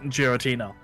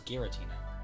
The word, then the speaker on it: Giratina: Oh, Giratina. That was Giratina. That was a hard G. I guess. Giratina?